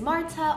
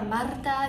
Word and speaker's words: Marta: If you're new here, my name is Marta, or Marta, if you can roll your R's, but either way is fine.